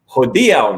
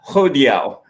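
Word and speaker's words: hodiaŭ: grammar correct my pronunciation no it's ho dial not ho diao you know i made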